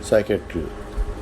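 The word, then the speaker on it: psychiatry: The beginning of word अगर किसी word के शुरू में पी एस आ जाए तो उसमें पी साइलेंट होगा। जैसे साम एस एल साम साइकोलॉजी और साइकेट्री इन सब में हमने देखा कि पी साइलेंट है।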